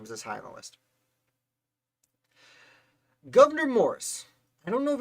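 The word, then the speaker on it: Gouverneur: you know why his name is this highlight governor morris i don't know if it's pronounced governor or governor i people say it's pronounced governor it looks like governor this guy's a lot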